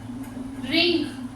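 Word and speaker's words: wring: रिंग. W silent रहेगा.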